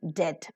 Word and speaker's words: debt: b-o-m-b bomb c-o-m-b comb lmb lamb and debt debt B silent here very nice look at